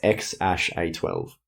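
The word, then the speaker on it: X Æ A-12: close yeah it's a it looks like an A and E but it's not a it's like an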